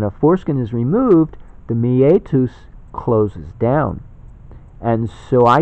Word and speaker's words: meatus: So it's kind of meat us. You know, meetups, meetup. Well, this is meet us. Meatus, it's Latin. I think I'm pronouncing it right.